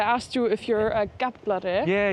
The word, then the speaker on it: Gaflari: It's just to say it a little bit slower, like Gaflari. It's like it's written very differently from how you say it.